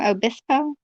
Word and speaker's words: Obispo: said that i say it right this time obispo thank you lina rina i'm so sorry that is pronunciation games are fun like rina remember um